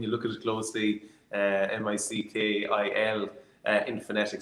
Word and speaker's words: Micil: How is the name pronounced? Micil. Micil, simple as that. Micil, yeah.